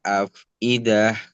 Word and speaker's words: أفئدة: Allati tattali'u 'alal afidah. Afidah agak dibuka ya. Afidah itu ada perubahan harokat, fathah, kasrah dan fathah lagi. Jadi lebih disempurnakan pelafalannya. Silakan.